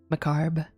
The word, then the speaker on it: macabre: Macabre is a fun word because the R is silent. Yeah, I know, right? Macabre.